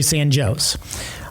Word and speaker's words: San Jose: You would look at that as San Jose. It was actually San Joe's.